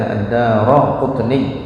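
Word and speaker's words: الدارقطني: Rawahu ad-Daraqutni, telah meriwayatkannya oleh ad-Daraqutni, bacanya ad-Dara kasyarakat, ad-Daraqutni. Ini ra-nya ini enggak berubah, fathah terus ya.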